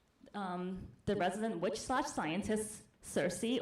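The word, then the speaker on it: Circe: the resident witch scientist Cersei or kiry if you pronounce it the Greek way had a potions event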